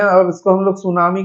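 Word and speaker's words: tsunami: है कैसे लिखते हैं टी एस यू एन ए एम आई है ना लिखा जाता है ट सुनामी पढ़ते हैं हम लोग सुनामी है ना इसमें दो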